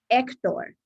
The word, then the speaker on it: Hector: Very important when you're pronouncing names for the H, the silent H. Hernandez, Herrera, Hector, not H.